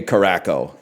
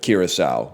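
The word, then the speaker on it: Curaçao: But then he did say Caraco instead of Curacao, which is really funny.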